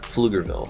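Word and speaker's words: Pflugerville: It's got the silent P like Flugerville. Flugerville.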